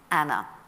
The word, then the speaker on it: Anne: Uh her name was soon shortened to an as we know her, but they would have pronounced it in the continental fashion of Anna.